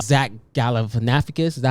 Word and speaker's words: Galifianakis: Yeah, they said Zach Galifianakis.